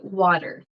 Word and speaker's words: water: lot of the times we will pronounce the T like it's in the middle not always but it happens like a d so for me personally I say water water and you can say